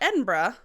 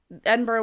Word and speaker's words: Edinburgh: So what was also happening around this time was that Edinburgh, which Scotland, I love you, and I didn't want to be one of those people that tried to mispronounce your capital.